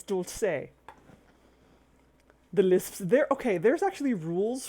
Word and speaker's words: dulce de leche: People pronounce it dulce de leche. No, that's wrong. It's dulce.